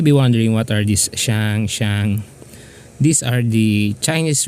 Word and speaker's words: 上: the standpoint of mandalin and fukan it is pronounced as Shang and Shang and um so that's it that's